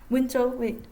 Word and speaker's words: Wenzhou: de personnes originaires de wenzhou on prononce comme ça winslow donc pourquoi en fait